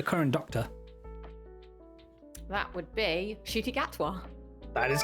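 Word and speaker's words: Ncuti Gatwa: who is the current doctor that would be shoy gatwa that is correct GG's I know some people stumble on the pronunciation but yeah didn't even know how to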